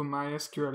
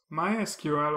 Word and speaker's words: MySQL: MySQL or MySQL is the world's most popular open-source database. Both pronunciations are used in the community. If you ask different people, they will tell you that different versions are the correct one. But I think the official one is the MySQL pronunciation.